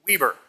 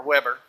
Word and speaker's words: Weber: introduce a new unit the Weaver or Weber pronounce it however you care and it's equal to